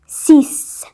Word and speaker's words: six: Part ध्यान से देखना, फ्रेंच में 6 को 6 ही लिखते हैं, बट प्रोनाउंस किया जाता है सीस, सीस, 6 नहीं। देखो अब ध्यान से देखो, ये हो गई इंग्लिश की स्पेलिंग, ठीक है, मैं लिख देती हूँ E इंग्लिश। बट ये जो है ये है फ्रेंच, तो इसको लिखते तो SIX ही है, बट बोला जाता है इसको सीस, ठीक है, ये ध्यान रखना।